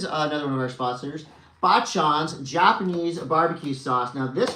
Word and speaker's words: Bachan's: Both me and my daughter love Bachans. Although we've been mispronouncing it, calling it Bakans. Oh, Bakans. Now I know. Bachan's. It's short for Obachan, which is Japanese for grandmother.